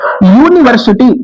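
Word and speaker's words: university: यूनिवर्सिटी, इसका भी pronunciation या से प्रारंभ हो रहा है, यूनिवर्सिटी, और यहां पर भी वही कंडीशन, तो यहां भी आर्टिकल ए रहेगा।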